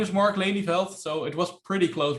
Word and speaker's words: Lelijveld: it short this part my name is mark laney felt so it was pretty close brand really you